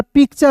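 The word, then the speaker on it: picture: याद रखना है कि किसी भी वर्ड्स के यदि अंतिम में टी यू आर ई रहेगा तो उसका उच्चारण चर के रूप में करेंगे तो क्या हो जाएगा दोस्तों? उसे जो है चर पढ़ेंगे।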